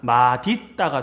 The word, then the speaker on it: 맛있다: 자, 이거는 뭐냐면 맛 있다 할 때 it은 그 실질 형태소기 때문에 맛 디귿 음절의 끝소리 규칙 적용해서 맛 디귿으로 바뀐 다음에 연음해야 됩니다. 그러면 맛있다가 돼요.